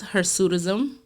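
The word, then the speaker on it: hirsutism: Um the second word that I'm going to go into today is her sudism. Her sudism is spelled h i r s u t i s m and it's putting that on.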